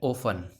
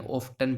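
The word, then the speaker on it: often: कुछ हमारे सामने ऐसे लेटर होते हैं जिनमें टी साइलेंट रहता है। क्या रहता है, टी साइलेंट। कौन कौन से ऐसे वर्ड्स हैं, चलिए देखते हैं। सबसे पहला है, ये क्या है, ओफन। क्या है, ओफन। लेकिन आजकल इसको एफ के साथ टी है, तो उसको हम प्रोनाउंस कर सकते हैं, ऑफ्टन भी सही आता है।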